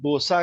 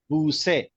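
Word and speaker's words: بوسه: that इस called भूसे पारसी में बोसा कहते हैं उसे यानी हम लोग उसे बोसा कहते हैं बट एस पर Iranian pronunciation it is called भूसे ओके तो इसमें भी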